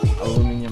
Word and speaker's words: aluminum: Is it? Aluminium? That's how they say it over in the UK.